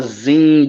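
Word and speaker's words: Qing: the Tang Dynasty yeah it's it's called The Zing Dynasty but they spell it with a Q um yeah q-i-n-g all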